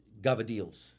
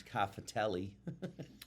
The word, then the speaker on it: cavatelli: So the white trash pronunciation is cafatelli, right. but in Italian it was gavadil. I don't know where the G came from because it's not on the box, but that's the way the Italians say it.